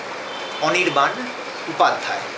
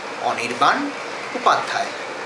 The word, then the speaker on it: Anirban Upadhyay: So, my name is, and this is the correct pronunciation, Anirban Upadhyay. That's how you pronounce it. It is Anirban Upadhyay.